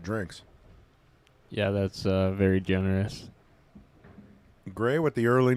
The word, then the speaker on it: Grey: That's how you spell it. Great. Not to be mispronounced Gary or anything else. It is Gray. Like Grey's Anatomy.